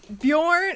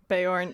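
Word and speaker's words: Beorn: like bjorn ironsides i i always said bayonne bayern yeah see i read bayern in my head but the audiobook pronounces it bjorn like the baby carrier thing um and so that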